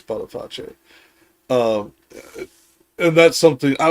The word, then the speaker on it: Boniface: Yeah, and Also, just for pronunciation consistency, since we've been saying Beatrice, it's Boniface. Boniface. Yeah. Malebolge. Yeah, Boniface is how most of us here in the West say it, but it is Boniface.